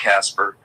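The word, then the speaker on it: Kacper: Cacper, not us, pronounced Casper.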